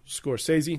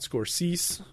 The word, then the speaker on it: Scorsese: by Martin Scorsese uh pronounced Scorsese not scorsis as some have uh joked um Scorsese did not